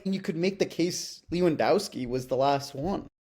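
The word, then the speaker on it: Lewandowski: But like you could make the case Leewendowski was the last one. Yeah. Yeah. Yeah. I guess that like I like how you said Leewendowski. Yeah. Lewendowski. Is that how you pronounce it?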